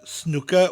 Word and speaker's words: snooker: pick a sport snooker snooker in welsh similar to the english its snooker with a rolling ER and each syllable is said evenly snooker snooker that little rolling out at the end snooker now you know